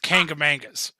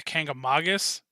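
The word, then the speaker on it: Kancamagus: myself included is the kanga mangas the way that it's technically supposed to be pronounced is the kanga Mogollon down to King Cummings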